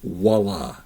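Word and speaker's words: voilà: It's voila with a V, and I do notice that it's mainly Americans say voila, but it's actually voila with a V, voix, but it's a VW sound, voila, instead of voila. It's not voila.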